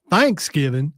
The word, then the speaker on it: Thanksgiving: And, just like people around here say Thanksgiving instead of Thanksgiving, because the giving is the more important part, not the thanks.